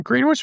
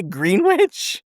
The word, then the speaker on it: Greenwich: So it's in Greenwich Village. It's just a bar. I don't think it's Would you say Greenwich? Greenwich. It's Greenwich. Whatever.